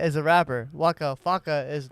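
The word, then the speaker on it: Waka Flocka: uh Chris ow and dirt first we got Wakka faka Fame wait Wakka faka Fame you say Wakka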